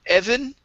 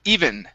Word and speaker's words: even: uh this word here instead of evan it's e even okay so even with